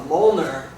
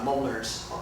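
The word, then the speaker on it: Mjölnir: Okay, so the next thing that we're going to do is called a Mjolnir and it's spelled very weird. It doesn't It's not phonetic. It's m j o l l n i r and it's It's a reference to Norse mythology.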